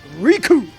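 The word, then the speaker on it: Recoome: in Team Four Star his names Rico it rhymes with doom yeah dude you know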